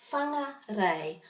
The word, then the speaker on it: Whangarei: are no macrons on the a's then the pronunciation sort of emphasis goes on this one which is the diphthong whangarei okay so that's that one and for this